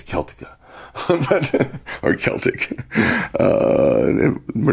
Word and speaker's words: Celtic: if you're articulating in spain where the the celtica comes in but it's just about everywhere else it's celtic or celtic uh we're not a basketball team but